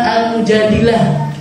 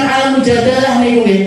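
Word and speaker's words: المجادلة: Alquran itu ada surat namanya surat al-mujadilah bukan al-mujadalah kalau sebagian orang membacanya al-mujadalah al-mujadalah itu artinya perdebatan tapi sebenarnya semuanya sepakat para ulama sebagian besar sepakat itu bukan surat al-mujadalah tapi surat al-mujadilah apa artinya mujahilah seorang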